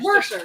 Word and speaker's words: Worcester: Worcester. Worcestershire. It's Worcestershire. Worcester. Worcester. They pronounce it like the Worcestershire.